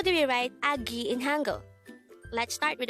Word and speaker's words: 아기: hangout word number 167 this is pronounced as a two-syllable word the first syllable is a second syllable is ghee pronounce it with me agi the word aggi is